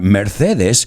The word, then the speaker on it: Mercedes: And when I say the word Mercedes, o bueno, lo pronuncio a la española, Mercedes, what do you think of? Benz, right? I say Mercedes, you say Benz.